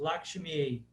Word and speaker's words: Lakshmi: Por exemplo, Lakshmi, Lakshmi, Lakshmi, por exemplo, às vezes a gente ouve isso, Lakshmi, como se fosse E. Mas isso é nas línguas contemporâneas da Índia, eles falam esse som diferente. Mas eu estou aqui mostrando a pronúncia do sânscrito clássico. Então, no sânscrito clássico, a I se pronuncia como em pai, ok?